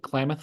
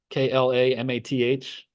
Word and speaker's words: Klamath: Klamath Falls, Klamath. I think that's what it is.